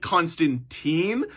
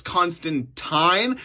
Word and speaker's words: Constantine: thinking wait a second isn't it John Constantine no so in the comics he actually continuously reminds people how to say his name because they made the movie with Keanu Reeves and they said it Constantine but it's constant time and so the author